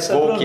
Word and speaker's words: Wouk: Felipe Volk é a pronúncia correta.